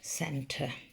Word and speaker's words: centre: It sounds like an S, but actually it's a C. It's what we call a soft C.